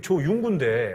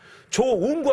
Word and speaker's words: 조윤구: 전도사님이 나한테 뭐라 하냐면은 제 이름이 조윤구 발음도 잘 제대로 못 했어 조 웅구 학생은 죄인이요 그러 거예요 조 운구가 아니고 저 누구다 저 군인데